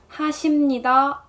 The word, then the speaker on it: 하십니다: does, you gotta say 하십니다. Same here, letter ㅂ sounds more like an ㅁ in this case.